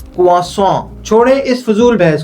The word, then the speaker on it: croissant: तो खैर इस ब्रेड के सही प्रोनाउंसिएशन होती है कुआस। छोड़े इस फिजूल बहस को। हमने तो इस मजेदार ब्रेड को चाय में ही डुबोकर खाना है। अब वो क्रोसाट हो, क्रोस हो या